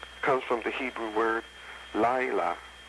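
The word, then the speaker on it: לילה: Night comes from the Hebrew word Laila. Some say Lala.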